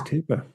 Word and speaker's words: Cowper: only heard it said, he was writing it out in the way that he' heard it said, which is with a double O. Um, and so his name is Cooper.